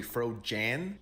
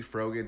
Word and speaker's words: Frogan: And I've been getting told that I'm pronouncing her name wrong. It's actually Fro Jan. Hell no. I'm not saying it like that. She will forever be froen to me.